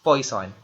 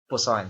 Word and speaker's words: Poisson: Nung una, ang basa ko rin dyan ay Poisson. So, medyo parang mapanganib ka ako tong probability na to. But, the correct pronunciation is Poisson.